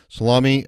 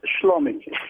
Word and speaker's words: Shlomi: by what they do salami uh am i pronouncing your name correctly almost slummy thanks for being on